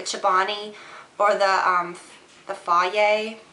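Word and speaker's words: Fage: or the um the fa it's spelled f a g e I always call it f cuz it's more fun um but yeah Greek yogurt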